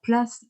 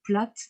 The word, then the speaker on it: Plath: vous parler de sylvia place alors place ou plate on a un choix de prononciation selon que l'on prononce à l'américaine ou à l'allemand de places qui tend